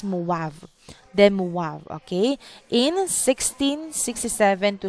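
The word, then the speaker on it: de Moivre: or abraham them okay we pronounce this as movav them okay in 1667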